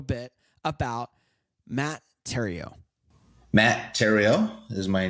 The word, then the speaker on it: Theriault: about Matt Theriault Matt Theriault is my name tario rhymes with stereo if you dropped the s epic real estate is